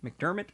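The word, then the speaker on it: McDiarmid: McDermott probably is how you pronounce it, but it's MC D I A R I M D.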